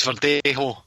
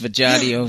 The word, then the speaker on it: Verdejo: pronounce Felix Verdejo feelings for dejo Leon Felix Verdejo Daniel selects over there oh well I think we are pronouncing it wrong because according to mr. Joe Gallagher Felix Bashar do it's vajay do so I think we